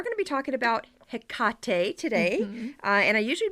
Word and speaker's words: Hecate: read that too in the original way is hekate so my default is probably going to be Hecate so I'm sorry if we're going to mess